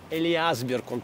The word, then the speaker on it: Элиасберга: Здесь, в Большом зале Ленинградской филармонии, 9 августа 1942 года, оркестр Ленинградского радиокомитета под управлением дирижера Карла Элиасберга — именно так произносится его фамилия.